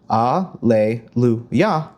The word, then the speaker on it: Hallelujah: That is going to have not only four syllables, but we'll notice there are a lot of times where we have two notes per syllable.